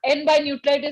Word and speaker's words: N by Nutrilite: तो this is what N-by Nutralite is going to give you.